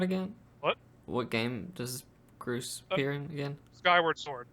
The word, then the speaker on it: Groose: Yeah, it's Groose. It's Goose, but with R.